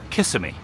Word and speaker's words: Kissimmee: You can always tell when someone isn't a local when they pronounce Kissimmee, Kissimmee. But it is also an interesting footnote that it's spelled the way the tourists, the people who aren't from Kissimmee area, say it. It is spelled in the way Kiss-me.